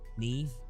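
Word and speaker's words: Niamh: Yeah, cuz it's like my cousin's named uh Neve, but like Neve spelled like Nymph, you know what I mean?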